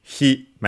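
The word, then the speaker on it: 姫: on its own uh okay on its own it would be he me accent presented on the first syllable he uh and of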